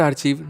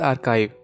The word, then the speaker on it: Archive: नॉट आर्चीव, नॉट आर्चाइव, इट्स आर्काइव। लेकिन क्योंकि pronunciation class नहीं है, सो जो बोलना है बोलो।